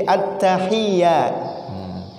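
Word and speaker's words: التحيات: At-tahiyyah bertasdid, mesti at-tahiyyat. At-tahiyyat panjang, mesti panjang. At-tahiyyat panjang.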